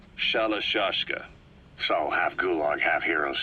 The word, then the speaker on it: Shalashaska: to hearing about it pronunciation had wound up as shallow shashka so half gulag have